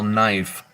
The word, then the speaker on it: knife: Like, if you turn around and try to spell knife by the way it's spelled, you're gonna miss the K.